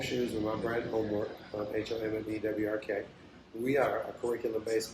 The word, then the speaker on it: HOMMEWRK: We got a chance to make 4 shoes with my brand Homework, HOMMEWRK.